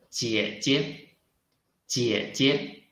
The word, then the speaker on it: 姐姐: 姐姐，姐姐 Okay, this is pinyin we learned today.